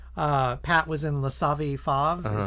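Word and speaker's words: Le Savy Fav: Like Pat was in La Savi Fave, is how you say it?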